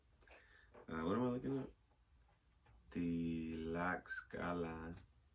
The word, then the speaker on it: Tlaxcala: Tlaxcala pronunciation.